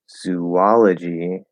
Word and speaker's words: zoology: by so fast um the word zoo uses the food uses the food vowel yes i was gonna